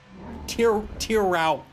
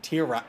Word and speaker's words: Tieraux: Tieraux. That's how you pronounce it. Tieraux.